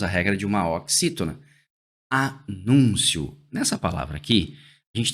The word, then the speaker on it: anúncio: Nessa palavra aqui, a gente tem que entender o seguinte: a palavra aqui é anúncio e não anuncio. Porque eu poderia ter essa palavra escrita assim, ó, anuncio, do verbo anunciar.